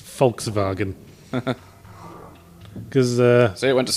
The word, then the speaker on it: Volkswagen: the way they pronounce Volkswagen. Because... See, it went to sleep. Because Germans pronounce their W's as V's, they're notorious for it. But did you know they also pronounce their V's as F's?